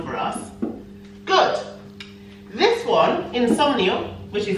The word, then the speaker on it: insomnio: But remember, in English it's insomnia with the A, and in Spanish it's insomnio with a O.